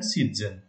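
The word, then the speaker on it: siezen: Because Z का pronunciation तज करके होता है, टी जेड करके होता है. सो इट इज डुज़न एंड सीज़न.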